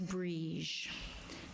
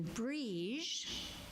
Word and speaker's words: Brigid: Celtic goddess known as Brigid. Now, it's important to know the difference between Brigid, which is spelled B-R-I-G-I-D, and Brigid. because they're not the same.